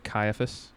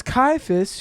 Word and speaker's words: Caiaphas: How how did you pronounce the name? Oh. Uh, I think it's Caiaphas.